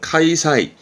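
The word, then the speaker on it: 開催: 카이덴 요거 자주 보입니다 개최하답니다 발음은 카이사이 카이사이 요것도 자주 보이죠 개막 개막식의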